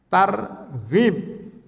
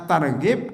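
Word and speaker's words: ترغيب: Satu lagi pakai ghain, targhib, mirip-mirip kan, ghain. Kalau targhib Ramadan agak mirip, karena targhib artinya mendorong, memotivasi.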